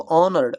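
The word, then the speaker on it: honor: एक है दोस्तों ऑनर्ड। ऑनर देखिए इसका ऑनरेबल होता है। ऑन इसका जो प्रोनंसिएशन होता है वो आ होता है।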